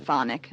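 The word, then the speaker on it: chthonic: mountain so this idea cathode means literally of the earth you can also pronounce it phonic like that all right and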